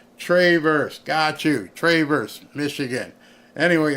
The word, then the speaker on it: Traverse: they pronounce the city it's not Traverse it's Travers tra Travers Michigan I I I stand corrected